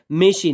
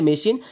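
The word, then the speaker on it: machine: তারপরও কিন্তু সেটার উচ্চারণ তালেবাস্যর মত হচ্ছে। মেশিন। এটা কিন্তু মেকিন হয় নাই। হয়েছে মেশিন।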